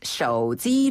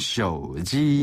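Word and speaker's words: 手机: 네, 휴대전화를 중국어로는 手机 라고 하는데요. 手机. 네, 여기서 手 는 손이라는 뜻을 가지고 있어요. 네, 손 숫자를 말하는데 네. 손으로 그다음에 들고 있는 기계란 뜻으로 지를 씁니다. 手机.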